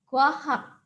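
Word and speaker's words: 과학: Dan suku kata yang kedua adalah hak. Dibaca kwahak.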